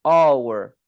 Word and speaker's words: hour: لكن this one we don't pronounce. What do we pronounce? We pronounce the O. So an hour. So we pronounce the O, and the O is here.